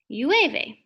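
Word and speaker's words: llueve: but you wave a because it has two l's which make a y sound ue which means rainy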